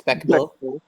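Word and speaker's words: Bechdel: We need to have a How do you scene where pronounce Sandy that? talks with Is Shelly. it Bechtel? Yeah, it's Bechtel.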